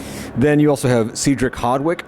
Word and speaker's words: Hardwicke: Then you also have Cedric Hardwicke, not Cedric, he pronounced it Cedric Hardwick.